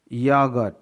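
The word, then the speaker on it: yoghurt: यागट, OGHOURT, यहाँ पास जी के बाद H है इसलिए H साइलेंट है।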